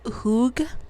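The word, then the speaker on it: hygge: It's pronounced Hug. I think it's a Danish word.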